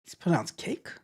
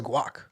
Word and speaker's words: Guake: It says it's pronounced cake. I thought it was guac. Thought it was guac, like guacamole, but I guess not.